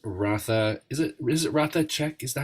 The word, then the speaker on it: Ratha Chek: is it is it rata check is that how you say it yes rata check the H is silent so I I will